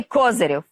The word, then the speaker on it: Козирєв: Був такий міністр закордонних справ в Росії, наголос на першому складі, Андрій Козирєв.